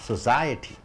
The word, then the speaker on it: society: society, ஸோ ரெண்டாவது சத்தத்துக்கு அழுத்தம் கொடுக்குறீங்க. society, கம்யூனிட்டி, சமுதாயம், மனிதர்கள் கூட்டாக வாழக்கூடிய அந்த ஒரு பெயரை சொசைட்டி என்று சொல்கிறீர்கள்.